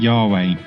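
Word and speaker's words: Yahweh: even to be pronounced but everyone else pronounces it y way although it could actually be something else like Yahoo way anyway with such a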